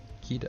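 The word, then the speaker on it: Qitta: Her name is spelled Q-I-T-T-A. Because why not? Kita.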